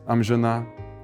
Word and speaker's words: amžinà: Or if we count from the other end, on the last one, for instance, amžinà “eternal”.